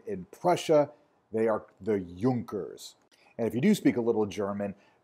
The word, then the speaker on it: Junker: So if you don't speak German, or if you're unfamiliar with the German language, the letter J is pronounced like our Ys. So this word is not pronounced Junker, it's pronounced Junker.